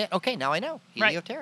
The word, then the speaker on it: Helioterra: Helioterra. Right. It just sounds cool. And as I look at it, and how do you say it? Okay, now I know. Helioterra.